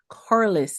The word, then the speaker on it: Corlis: I'm your host Bernardet and joining me today is Corless. Did I pronounce it right?